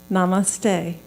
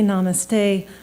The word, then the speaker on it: namaste: guesses Katherine knows it Namaste one word three syllables to hold a world